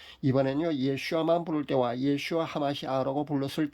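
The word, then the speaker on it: ישוע המשיח: 현대 히브리어로 예수님은 우리가 잘 아는 대로 예슈아입니다. 여기에 그리스도는요 하마시 아흐고요. 그래서 예수 그리스도는 예슈아 하마시 아흐입니다. 발음하기가 아마 좀 어려울 겁니다. 예슈아 하마시 아흐가 됩니다.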